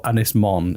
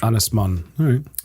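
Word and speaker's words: Ynys Môn: this is big island what's pronounced anglesey or anismon is the welsh anisman um and that was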